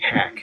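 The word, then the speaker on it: Haq: Eastern time, and the content creator's name, it's spelled H as in Harry, A as in Apple, Q as in Quebec. Hack. It goes by Hack.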